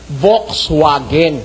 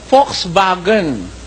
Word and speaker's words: Volkswagen: ang pronunciation niyan eh Volxwagen ba no as it is spelled. Pero ang pronunciasyon diyan ng mga mismong aliman Volkswagen. Ox vagen itong itong V nagiging F at itong W nagiging V.